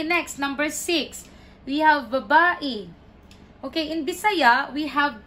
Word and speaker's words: babae: a female okay or babae the stress is in the second syllable one two no it's